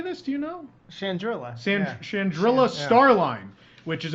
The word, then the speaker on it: Chandrila: Chandrila.